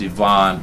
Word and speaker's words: Ivan: calm by the way it's pronounced Yvonne but it's spelled like I I let you man